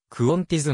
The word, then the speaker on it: Qantas: 最大手の航空会社オーストラリアでのカンタスの発音はクオンティズのように発音されるカンタス航空はオーストラリア